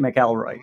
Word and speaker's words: McElroy: or mcelroy depending on how you like to pronounce it you like it mcallroy there it is d.c mcelroy thanks a million for taking time and coming